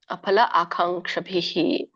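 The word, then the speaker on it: ಅಫಲಾಕಾಂಕ್ಷಿಭಿಃ: ಅಂತ ಹೇಳಿ ಕರೀತಾರೆ ಇದಕ್ಕೆ ಅಫಲ ಆಕಾಂಕ್ಷಭಿಹಿ ಅಲ್ಲಿ ಫ ಬರಬಾರದು ಫ ಬಂದಾಗ ಅದು ಇಸ್ಲಾಮಿಕ್ ಫ ಆಗುತ್ತೆ ಸೋ ಅದನ್ನ ಬಳಸಬಾರದು ಇಲ್ಲಿ ಫ ಹೇಳಬೇಕು ಪ ಫ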